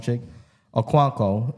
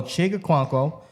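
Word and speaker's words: Chig Okonkwo: I really love um I got to make sure I say his name right is chick chick I'm just gonna say chick because they call him chick oh cuanko who's there Titan you got that right so chica cuanko uh rookie Thailand last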